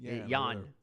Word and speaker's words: Jan: John or whatever he the J is silent yon we had him in